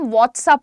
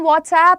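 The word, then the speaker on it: WhatsApp: अब व्हाट्सअप में प्रॉब्लम ये होती है, बहुत सारे लोगों को लगता है कि जो हमारी वो मैसेजिंग ऐप है उसका नाम व्हाट्सअप है, उसका नाम व्हाट्सएप है।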